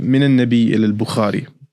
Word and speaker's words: من النبي إلى البخاري: من النبي إلى البخاري by Ahmed Sanobar. That's how you pronounce it.